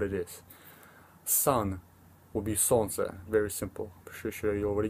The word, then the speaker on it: солнце: Солнце. It's a little difficult to pronounce it because I know there's like солнце, you know, so you want to say it fast, which солнце.